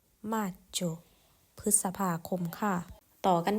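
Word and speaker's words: Maggio: เมษายน ค่ะ เดือน ถัด ไป นั่น ก็ คือ มาโจ มาโจ พฤษภาคม ค่ะ ต่อ กัน ที่ เดือน ถัด ไป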